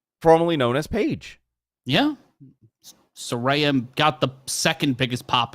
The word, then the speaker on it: Saraya: known as page yeah sarayam got the second biggest pop of the night and it'll be a rare Soraya it's Soraya sorry per her Twitter yeah she explained how to pronounce it yes Saraya so listen uh does